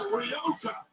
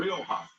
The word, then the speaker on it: Rioja: How do you pronounce it? Rioja.